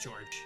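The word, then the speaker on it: Georges: So, I thought George at first, Sionis, but Roy said that the internet said to say George. Or Georgia. So there's like a afterwards, I think, right? If it's French, then it's just George. Okay.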